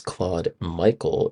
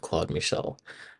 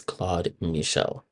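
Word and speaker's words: Claude-Michel: I actually pronounced Claude's name as Claude Michael instead of Claude Michel.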